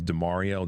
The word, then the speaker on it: DaMareo: His name is DeMario. That's spelled D-A-M-A-R-E-O, Cooper.